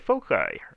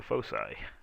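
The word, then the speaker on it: foci: going to learn to get the folai or the fosi heard to pronounce both ways but anyway fosi the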